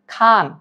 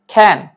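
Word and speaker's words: can: আসে এর উচ্চারণ হবে অনেকে উচ্চারণ করে ক্যান অনেকে করে খান সঠিক প্রনাউন্সিয়েশন হবে ক্যান ক্যান জাস্ট সেকেন্ড আমি যদি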